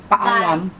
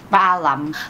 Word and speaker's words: Paalam: Paalam. What? Huh? Paalam.